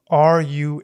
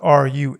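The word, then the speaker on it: ruach: in Hebrew the word used in these lines is spelled r u a c h Ru it means spirit and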